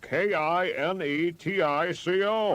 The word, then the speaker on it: Kinetico: You should have remembered kinetic as in kinetic energy with an O on the end.